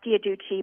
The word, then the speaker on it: Giudice: um on the show I think they pronounce their name Giudice but I think I've also heard it pronounced via do Qi but this is Joe